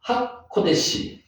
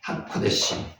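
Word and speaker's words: הקודש: 요게 위에 점이 찍히면은 오 발음 난다 그랬죠? 키읔이 오 발음, 코, 여기 디귿 발음 나잖아요. 이 발음, 점이 3개 이상 찍히면은 뭐 발음 난다고요? 에 발음 난다 그랬죠? 코데시, 하코데시.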